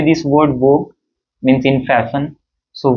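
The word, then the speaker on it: vogue: we say this word vog means in fashion so vog we pronounce this part only right V rather than U and E also so we do not pronounce this U and E also there yeah we say only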